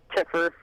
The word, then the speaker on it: Tiffer: Tiffer, short for Tiffany. And that led to doing a lot of And the riffer part, my other friend gave me that tagline because it rhymes with Tiffer.